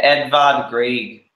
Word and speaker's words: Edvard Grieg: Oh, Grieg, yeah. Yeah, probably pronouncing his name wrong because they're all complicated back then. But yeah, Edvard Grieg is what. You got it right, man. That's how you pronounce it.